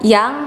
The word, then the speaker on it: Jang: salah Lalu ada perubahan yang menjadi yang jadi yang di sini itu pakai j huruf y-nya Karena itu adalah ejaan lama jadi ditulisnya Jang tapi dibacanya Tetap Yang tapi ini salah ya